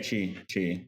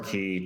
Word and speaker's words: qi: I don't know if I'm pronouncing this right. QI, uh, Yeah, yeah, chi, chi. Okay, it's the source of or all. chi, chi, or chi. It just Yeah, depends on it's what country it's you're very in.